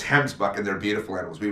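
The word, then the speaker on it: gemsbok: So a Gimsbach definitely on the list. All right, can I correct you? Can I correct you for a minute? It's Hemsbuck. Okay.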